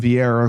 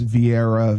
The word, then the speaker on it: Vieira: versus Ketlen Vieira who I've never heard of.